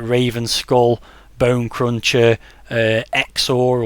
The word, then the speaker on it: XOR: raven skull bone cruncher xor or zor it might have been pronounced as all those sort